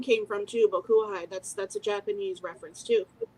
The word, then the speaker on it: Hide: And the guitar player, he passed away in 98, but his name was Hyde. But in English, it's spelled Hide.